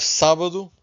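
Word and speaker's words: sábado: And then we have sabadu. This accent here, pay attention to this accent. So we stress the final the the first syllable.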